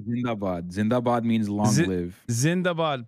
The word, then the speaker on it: Zindabad: At least Pakistan's how do you say it? Zinzabad? It's called Zindabad.